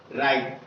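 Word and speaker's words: right: R से रा, I से ई, GS साइलेंट रहेगा, T से टा, राइट।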